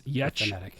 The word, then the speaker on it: Yetch: I should say the way she spells her name is not how it's pronounced. Oh yeah. And the way she created her store is how you pronounce her name. So it's Yetch, YETCH .store.